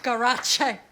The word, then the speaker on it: Garage: It's pronounced garache, Michael.